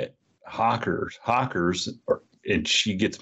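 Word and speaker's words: Hocker: hacker hardware and uh h-o-c-k and I say Hawker and she gets mad and says I'm saying it wrong I don't know how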